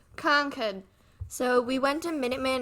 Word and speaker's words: Concord: all of you out of Staters it's not pronounced Concord it's pronounced Concord so we went to Minuteman National Park and